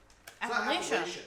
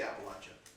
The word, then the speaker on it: Appalachia: Home Alabama country take can you believe that they pronounce that Appalachia no no if you're from there you say Appalachia what the that's weird Appalachia Appalachia I am not